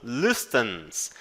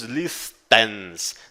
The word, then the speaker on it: listens: E a letra T você não diz listens, não, e sim listens. Listens, ele é um T para dentro, tá? Você fala com a língua presa lá no fundo.